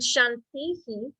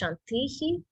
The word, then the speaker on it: shantih: cool so yes and Shanti so there is a a great example of you're echoing the sound it's not just Shanti but it's shantihi so whenever you hear